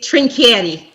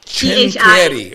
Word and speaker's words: Trincieri: I've got Candace Trincieri. Did I pronounce it the right way? How am I supposed to pronounce it? It's Trincieri. Trincieri.